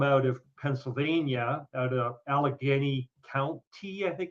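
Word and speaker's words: Allegheny: groundbreaking study come out of Pennsylvania out of Alagany County I think it's called. It's the county in where I am. Yeah, that's all right. How do you pronounce it then? Alageney Alageney County.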